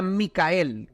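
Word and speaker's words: Μιχαήλ: Miguel en el original en el original griego creo que ya sería aquí en el Apocalipsis no se pronunciaría micael y significa el que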